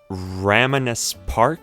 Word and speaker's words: Ramanas Park: Now, I glossed over the place called Ramanas Park, I believe it's pronounced.